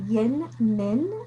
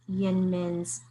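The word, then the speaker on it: YInMn: It's called, I think, Yin Min is how you pronounce it, but it's okay. Y and then uppercase I-N, and then uppercase M, and then N.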